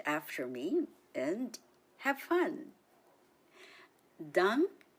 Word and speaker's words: Dankbarkeit: 3 syllables in the word Dankbarkeit. Listen and repeat after me and have fun. Dankbarkeit. Dankbarkeit.